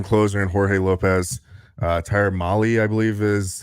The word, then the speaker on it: Mahle: They went out and got 3 pitchers, an awesome closer in Jorge Lopez, Tyler Mahle, I believe is how you say his name, and Michael Fulmer.